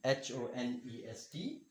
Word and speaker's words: honesty: Honesty. Honesty. Okay, now it is not called honesty. First of all, H is silent.